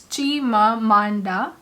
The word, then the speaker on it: Chimamanda: Chimamanda, it's not Manda, it's Chimamanda Ngozi Adichie.